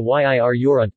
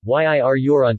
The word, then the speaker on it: Yirr-Yorront: Following is the ethnonym, Yir Yoront is written hyphenated as a way of indicating that the syllable following the hyphen is stressed.